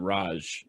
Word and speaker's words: Raj: this is an email i think that you pronounce the name raj r-a-j sounds right yeah um this is i